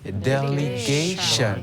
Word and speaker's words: delegation: Ça s'écrit délégation mais on dit delegation delegation.